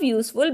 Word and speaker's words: useful: Because the pronunciation of useful begins with a Y sound, which is a consonant sound.